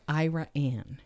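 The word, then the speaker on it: Iraan: and I ended up in a town called IRA an and it's called IRA and it's spelled IR a a and and it's a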